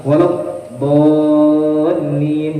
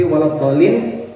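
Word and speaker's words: وَلَا الضَّالِّين: Jadi kalau membaca Al-Fatihah yang paling panjang yang wajib adalah waladhdallin. Jadi panjangnya 6 harokat, walaupun kita bergambar, walaupun kita membacanya pas sembahyang sorangan, tetap harus kita panjangkan ini. Kalau yang lainnya boleh 2, tapi waladhdallin maksudnya bo itu wajib 6 harokat walaupun bergambar.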